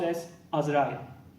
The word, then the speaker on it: Azrael: arch angel of that it is pronounced s as rally thanks and see you